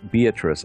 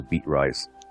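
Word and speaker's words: Beatrice: I thought it was beat rice because that's how it's pronounc how it's spelled and and and I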